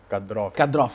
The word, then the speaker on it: Kadyrov: Vou citar aqui, mas temos aqui como segundo tema assim, a questão do Ramzan Kadyrov, acho que é a pronúncia certa. Kadyrov, muito obrigado.